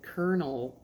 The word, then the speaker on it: colonel: do we pronounce it konel when it just I mean I know it's probably like a French term why do we pronounce colel with an R thank you so much